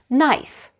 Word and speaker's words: knife: hurt his knee head shoulders knees and toes knife watch out this knife is very sharp pass the knife please know